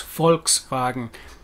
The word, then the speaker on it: Volkswagen: english would t the english would tend to pronounce volkswagen in full more so than abbreviated but it's volkswagen people's car the car of the people bmw